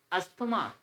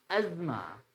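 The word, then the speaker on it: asthma: गलत कर जाते हैं सो इट्स नॉट अस्थमा इट्स अजमा अजमा सभी को एक जगह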